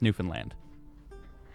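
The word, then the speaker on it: Newfoundland: Finland yeah all right it's spelled New Foundland but it's pronounced New Finland you go to the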